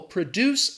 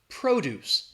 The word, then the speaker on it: produce: When we're talking about the noun is stressed in the first syllable, the verb is stressed in that second syllable. Okay. So I've lost my place. Sorry about that. All right. So the businesses produce, again, that stress is on the second syllable, produce a lot of produce. The stress is on that first syllable.